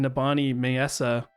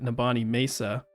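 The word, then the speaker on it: Nibani Maesa: so first of all, I've been pronouncing Nabani Mesa wrong. Azura just pronounced it Nabani Mesa. I kind of thought that might be the case, but I went with Mesa.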